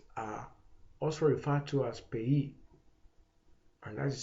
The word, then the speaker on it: PAYE: Under direct taxes, we have direct taxes are also referred to as payee, and that is spelled P-A-Y-E, which is an acronym which means pay as you earn.